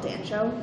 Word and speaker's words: Dancho: benefit of the clips I believe it's pronounced Africa dancho dancho my apologies your government last minute